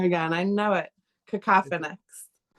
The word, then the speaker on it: Kakophonix: Cacophinics.